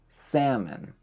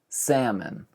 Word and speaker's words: salmon: Number 7, salmon. Where does the L go? Nobody knows. It disappears. And the O kind of turns into an E-like sound. Salmon. Salmon. Like men.